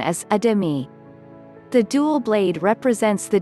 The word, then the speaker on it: athame: a variety of ways, though the most common pronunciation is adimi.